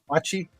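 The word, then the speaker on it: Bochte: Bachi. Like the botchi ball, I guess.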